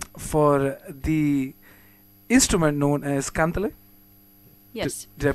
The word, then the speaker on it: kantele: the one-woman renaissance for the instrument known as kantele. Yes. Did I pronounce that right? Kantele? Yeah, kantele.